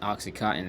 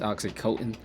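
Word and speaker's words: OxyContin: show on Netflix called uh Oxy Coen not Oxycottton is actually pronounced Oxycoten it's a good show you should watch that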